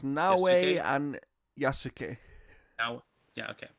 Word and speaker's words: Yasuke: Or yes, I can't pronounce these names at all. It's Naoe Yasuke.